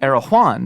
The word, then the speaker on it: Erewhon: Erewhon. That's just how you pronounce it. Is that how you say it? Erewhon. All the fancy people say Erewhon.